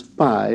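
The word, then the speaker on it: φ: So too we should pronounce the iota subscript, and take care not to pronounce phi as f, a sound which apparently didn't exist in ancient Greek, but as ph, as in shepherd.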